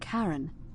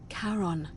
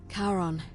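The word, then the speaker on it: Charon: It's just as you described it, only your pronunciation is a little off. The name you heard wasn't Karen. It was C H A R O N. As in Karon, the fairyman of the dead. Karon, who in exchange for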